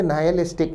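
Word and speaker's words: nihilistic: विद्यार्थी ध्यान दें, शब्द नायलिस्टिक में एच को नहीं बोला जाता, उच्चारण होगा नायलिस्टिक, अर्थ है शून्यवादी।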